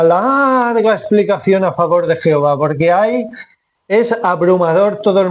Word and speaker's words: Jehová: En la primera sílaba, el ye, en castellano decimos je, pero sería ye en hebreo, está el prefijo de